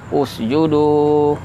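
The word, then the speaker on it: اسْجُدُوا: Kalau nafas pendek berhenti, kita ulang misalnya dari kata usjudnya. Nah, boleh ya. Usjudu gitu bacanya. Kan dhamma usjudu li Adam. Gitu. Tapi kalau ada huruf sebelum ada kata atau ada satu huruf saja sebelumnya, maka tidak lagi dibaca dengan dhamma.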